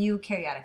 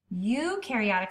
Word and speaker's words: eukaryotic: some ribosomes that's it eukaryotic cells you rhymes with do and you have eukaryotic